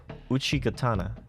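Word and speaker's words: Uchigatana: the II gatana did I say that right Uchi gatana yeah wait oh my I said it right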